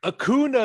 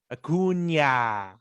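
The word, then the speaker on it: Acuña: and he was like akuna is better than you akuna and bryce had to turn around and correct him and it's like that's not how you say his name it's akuna akunya rona laguna it's not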